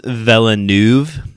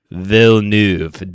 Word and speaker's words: Villeneuve: Um Dennis Villeneuve. I totally butchered that, I bet you. Villeneuve.